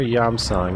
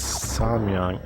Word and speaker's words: Samyang: there's there's those um is it samyang or yam song they make the spicy korean chicken flavored ramen noodles that became popular i think it's samyang i i always forget the order the syllables um but they made